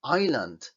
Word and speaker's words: island: un error super típico Esta es Island Por qué es un error super típico porque nos empeñamos en pronunciar esta s cuando veis que en fonética no lleva s es decir no se pronuncia la s por mucho que nos empeñemos Island